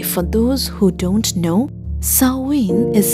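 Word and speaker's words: Samhain: By the way, for those who don't know, sawin is spelled as s a m h a i n, but m is silent and therefore pronounced sawin with stress on the first syllable.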